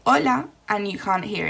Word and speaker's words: hola: but if you hear we don't actually pronounce the h in words so for example the word hello where in english you can hear the hello the h we say hola and you can't hear